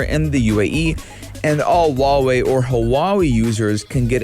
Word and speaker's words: Huawei: Are you a Huawei user, or as everyone else knows, Huawei? Right? I hate when people say Huawei.